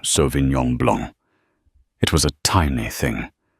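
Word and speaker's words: Sauvignon Blanc: She pronounced it correctly softly without a hint of correction in her tone. So Vinyong Blong, it was a tiny thing, a breath of air.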